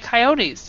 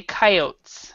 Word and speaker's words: coyote: mhm w and coot coyotes yes and there's two pronunciations for that word uh I was raised with coyote and other people I hear them say coyotes excuse me how do